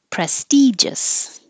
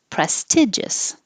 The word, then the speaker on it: prestigious: Prestigious, or some people can pronounce it prestigious. Both are fine. I think prestigious is a little more common.